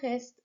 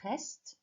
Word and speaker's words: reste: The E of reste, you can't hear that.